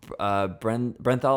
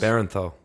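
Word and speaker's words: Bernthal: I always pronounce his last name wrong. Brenthal, I think it was. Barenthal. There we go. John Barenthal.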